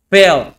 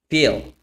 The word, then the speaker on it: fail: Fail. Pronunciamos fail. O otra cosa, okay? Acá. Bubble. Put some more air in your bubble. If you stay in your comfort zone, that's where you will fail. Feel.